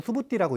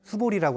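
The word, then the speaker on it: Subhūti: 자, 이 빨리 오르는 수부띠라고 읽습니다. 수볼이라고 안 읽고.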